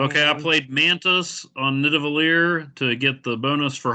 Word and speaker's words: Nidavellir: Nidavellir?